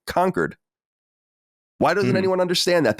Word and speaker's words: Concord: they were calling it Concord but that doesn't mean that the word Concord doesn't exist it means that the city spelled Concord is pronounced conquered why doesn't anyone understand